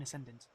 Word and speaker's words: Ascendant: It's not Ascension, Ascendant series.